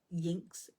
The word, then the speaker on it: iynx: the goddess using Voices Magicae and the ancient Yinks prayer wheel. And it's spelled IYNX.